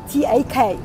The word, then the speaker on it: tak: Which you basically would spell t a k, and you pronounce it as "tak".